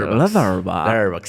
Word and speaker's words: Letterboxd: Me pueden seguir en Instagram como maps-2208, en Letterboxd, así se pronuncian los ingleses. Letterboxd.